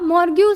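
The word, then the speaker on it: morgue: अब मोरग्यू से मुर्दा घर को कैसे कनेक्ट करोगे देखो। अगर मैं इसकी प्रोनाउंसिएशन लिखूं तो ये है मोरग्यू, मोरग्यू।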